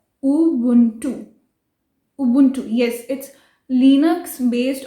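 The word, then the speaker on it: Ubuntu: India में usually we call it एज अबंटू, बट इट्स उबुंटू, उबुंटू, like this, उबुंटू।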